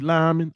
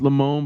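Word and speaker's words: Limón: Bacardi Lyman. I know it's Limon, but that's how we pronounced it.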